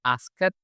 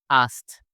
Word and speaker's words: asked: Nah, jadi kalau ada yang kayak gini, kita bacanya itu pakai huruf T aja ya. Kita bilangnya bukan asked, tapi kita bilangnya asked, asked. Jadi ada sedikit huruf T di akhirnya.